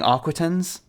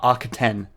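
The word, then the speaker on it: Arquitens: the architect architect class uh i keep saying aquatans uh archeten is apparently how it's supposed to be pronounced i'll just talk about the s in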